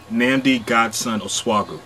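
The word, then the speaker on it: Nnamdi Godson Osuagwu: I want to call him Kente cuz I can't pronounce his name. Nami Gassen Oswagu. Okay, you say your name. Nami Godson Oswagu.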